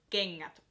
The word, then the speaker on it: kengät: And this happens when the letters N and G come together. For example, in the word kengät or kangas, etc.